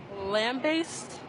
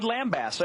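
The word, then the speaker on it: lambaste: And how do you pronounce this word? Lamb-based. She says lamb-based. She is correct. She got it. Lamb-based. Nice. I would have said lambast.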